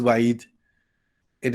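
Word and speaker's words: وعيد: the Quran whoever fears wa'id. What is wa'id? It is, you know, the ya is removed from pronunciation and writing, but we have a kasra still there, wa'idi, but we don't pronounce that when we end.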